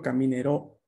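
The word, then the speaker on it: camminerò: no yo digo yo caminero esa o final se pronuncia con una abertura de la huaca un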